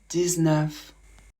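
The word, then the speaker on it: dix-neuf: 19. Pour 19, on va prononcer le X de 10 comme un Z.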